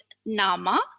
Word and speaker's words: nama: It is usually emphasized in the penultimate syllable or the syllable right before the last one. Nama.